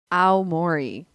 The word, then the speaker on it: Aomori: I should look up how to pronounce this. One moment. So it's Russian. Aomori in Japan.